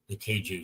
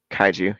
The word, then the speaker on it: kaiju: to the Keiju scene. There's a The big old Keiju battle. kaiju, yeah. I think this pronunciation I've got on you.